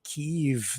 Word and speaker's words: Kyiv: Here's our fearless leader, Justin Trudeau, making a surprise visit to Kiev, or Kyiv, depending on how you want to pronounce it. They say Kyiv these days over there, and he came bearing gifts, $500 million in Canadian dineros.